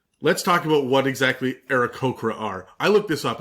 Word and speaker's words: Aarakocra: It says it's the same A sound as the word happy, but starting off in era, man, it's been fucking with me all week. So, anyways, Ericocra is the official pronunciation.